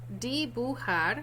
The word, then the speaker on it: dibujar: That J is pronounced like an H.